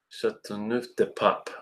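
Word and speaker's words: Châteauneuf-du-Pape: Chateauneuf-du-Pape. Oh, okay, gotcha. Because you don't pronounce the E.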